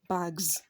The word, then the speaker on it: bags: So we have bag, ends with G, voiced. So the plural will be what? Bags.